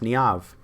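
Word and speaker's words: Niamh: I haven't spoken to her in ages, but that's pronounced Niav.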